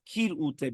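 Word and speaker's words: כרעותה: The Rishon LeZion, however, ruled that it is more correct to pronounce it with kirute, beginning with the letter kaf.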